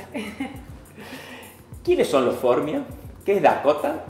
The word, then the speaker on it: Formia: Formia, sí, sí. ¿Lleva acento? No lleva acento, pero se pronuncia con el tilde, sí.